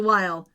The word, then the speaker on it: Weil: Murder co-star, Paris Geller from Gilmore Girls, Liza Weil. Thank you. I know I was going to say it wrong. Liza Weil, since 2016.